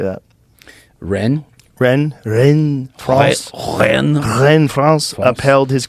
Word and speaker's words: Rennes: Rennes, France.